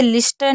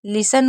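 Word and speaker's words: listen: हम इसे लिस्टन नहीं पढ़ेंगे। एल को ल पढ़ा, आई को ई पढ़ा, एस को स पढ़ेंगे और एन को ना। यह श भी शलगम वाला होगा। यह सा वो वाला नहीं होगा।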